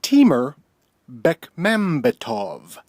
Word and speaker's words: Timur Bekmambetov: And Adam knows the correct way to pronounce Timur Bekmambetov. Timur Bekmambetov.